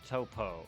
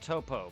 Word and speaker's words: Toppo: it's top like to his no it's not pronounced Topo it's pronounced toppo but his name is actually just top oh